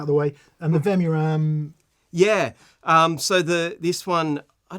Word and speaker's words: Vemuram: And the Vemuram.